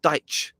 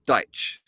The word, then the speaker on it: Dyche: He calls Sean Dyche Sean Dyche. Like so I'm wondering, first thing I'm wondering is we've been saying his name wrong the whole time, right?